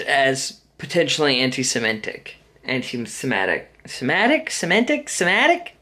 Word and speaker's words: Semitic: Semitic? I think Semitic, actually. I've been pronouncing it Semantic.